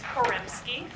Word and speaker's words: Poremski: It's Poremski, Poremski. Okay. just like it's spelled.